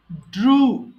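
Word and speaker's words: drew: মাঝখানের এটা কিন্তু ড্রু হবে। একটু খেয়াল করবেন, আমরা সারা জীবন এই কয়েকটা ওয়ার্ড আছে ভুল পড়ে আসছি। সো এটা কিন্তু ফ্লু হবে, ফ্লিউ নয়। আর এটা ড্রু হবে, ড্রিউ নয়।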